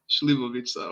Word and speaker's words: šljivovica: Šljivovica.